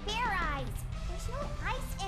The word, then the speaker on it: Fairize: again and this time make sure you pronounce the Z all right and now